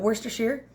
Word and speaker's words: Worcestershire: Okay, and then I added in about a teaspoon of Worcestershire sauce. That's how you say it if you didn't know, but Worcestershire.